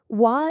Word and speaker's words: は: Even though it's written with a character for ha when it's used as a particle, you always always pronounce it w.